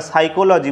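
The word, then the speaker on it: psychology: পি যখন আমরা সাইকোলজি বলছি তখন কিন্তু পি আমাদের সাইলেন্ট থাকছে।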